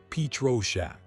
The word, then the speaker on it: Pietroschek: Psychic crime fiction copyright Pyrachek pronounced Petro Shack.